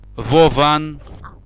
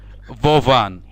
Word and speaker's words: Вован: Their name are Vovon and Lexus. Lexus, and Yeah. what was the first one? Vovan.